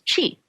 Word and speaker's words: Qi: the body and we we call this energy that flows through the meridians cheat you can spell it Qi or as in Tai Chi you can spell at CH I but either way we're talking about the same thing and there's of course